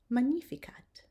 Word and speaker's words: magnificat: And finally, the G, when it's together with an N, we're going to pronounce it nya, as in canyon. And here's some examples. Agnus, magnam, ignis, magnificat.